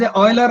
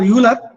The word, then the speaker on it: Euler: Euler can be pronounced as Euler or Euler.